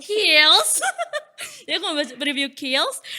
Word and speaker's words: Kiehl's: Apa ini bacanya, Kak? Kiehl's. Kiehl's.